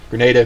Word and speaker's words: Grenada: on alert everybody's deploying for the uh the grenada incident so you know the uh the party time is cut short granada happens grenada granada potato potato whatever the real life event of grenada grenada granada canada and this was an actual event